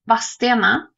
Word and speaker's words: Vadstena: And what could also happen is if I'm like, there's a place around here called Vastena, and it is spelled with a D in it.